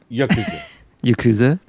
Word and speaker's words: yakuza: so yeah in uh the yakuza as you say it right uh if you said it weird we colored it briefly i don't understand dude you just said it weird now it's yakuza so in the yakuza